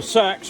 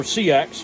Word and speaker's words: seax: a sax blade now the sacks or CX however you prefer to pronounce it was a very common